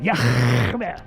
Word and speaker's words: Yahweh: His name is Yahweh. That's how you pronounce it. Yahweh.